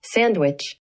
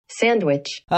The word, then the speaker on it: sandwich: 라고 do which가 아니라 do watch라고 적혀 있는 걸 볼 수가 있어요. 발음 한번 들어보세요. Sandwich. 한 번 더. Sandwich. 이게 이제 which라고 들리기도 하고요. 근데 또 요걸 보고 들으면 약간 what 같기도 한가라는 생각이 아마 드실 겁니다.